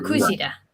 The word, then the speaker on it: kujira: Ah, Kujira.